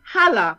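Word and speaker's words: Haller: yeah go ahead sebastian holla that's how you pronounce his name sebastian heller of western manchester manchester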